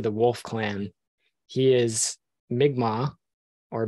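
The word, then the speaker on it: Mi'kmaq: Edge belongs to the wolf Clan he is migma or mcmack as some people mispronounce it I believe uh from the community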